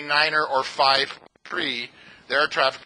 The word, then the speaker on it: niner: in it so on the radio you say Niner and on the radio you say Fife FIF